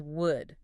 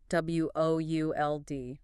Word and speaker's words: would: The L is completely silent. We do not say would. It rhymes with wood, like the tree.